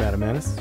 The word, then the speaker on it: Adam Maness: It's Adam Maness.